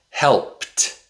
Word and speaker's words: helped: t t The D usually makes a t sound with past tense verbs.